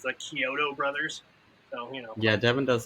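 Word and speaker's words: Chiodo: Killer Clown creators, and I kept calling them the Kyoto brothers because that's what it looks like it's spelled, but it's the Kyoto brothers.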